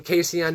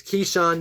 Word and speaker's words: Keyshawn: now he's back um i kept calling him casey on nixon it's keyshawn nixon i heard uh versace